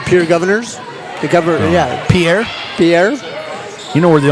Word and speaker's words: Pierre: Well, and I liked your dark horse as well, Pierre.